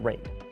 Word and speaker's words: RAID: all those letters and yes I know it's pronounced rate so there you have it the predator triton